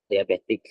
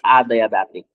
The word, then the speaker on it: adiabatic: A um I don't know how to pronounce butic or aabet diabetic. No no no it's adiabetic.